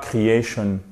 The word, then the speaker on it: creation: Quand vous avez des mots qui se terminent en shun, attention, perfection, creation, vous avez l'accent tonique sur l'avant-dernière syllabe, c'est-à-dire la syllabe qui est juste avant le shun.